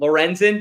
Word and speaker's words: Lorenzen: really bad Tom it's going to be horrible Lorenzen did I say it right yes yes it's